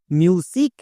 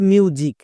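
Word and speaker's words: music: বুঝে যাবা যেমন দেখো এই ওয়ার্ডটার উচ্চারণ কি করব মিউজিক নাকি মিউজিক কোনটা কোনটা সঠিক এখানে অনেকেই ভুল করছো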